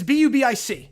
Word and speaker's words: Bubic: It's B-U-B-I-C. Yeah, no. The name, it's pronounced Bubic, but the name is B-U-B-I-C.